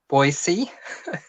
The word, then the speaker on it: Boise: My mom was from Boise.